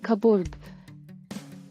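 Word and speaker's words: cupboard: letter D can kerchief ಕಬೂರ್ಬ್ ಕಾಪಾಟು silent letter B ಕಬೋರ್ಬ್ ಬಾಲೆ ನೃತ್ಯ ಪ್ರಕಾರ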